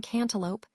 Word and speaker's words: cantaloupe: The e in cantaloupe, the u in guard, and the e in riddle. These are classic cases of silent vowels.